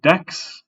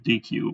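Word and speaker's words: deque: So stacks, queues, and decks. They said that's how we pronounce it. I always think it's DQ, but apparently I'm bad at that, and it just makes me want ice cream.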